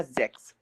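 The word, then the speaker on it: sechs: और ये आ जाएगा जेक्स, जेक्स, जेक्स, ठीक है ना? ये जा का साउंड करेगा, जेड, ठीक है ना? जा।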